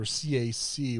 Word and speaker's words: CAC: We called them smart cards, or CAC, which stands for Common Access Card. We pronounced them as CAC cards.